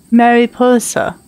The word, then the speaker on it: Mariposa: Mariposa. That's how you say her name.